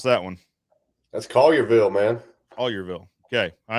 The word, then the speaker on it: Collierville: is here from you're going to have to pronounce that one that's collierville man all yearville okay i had to make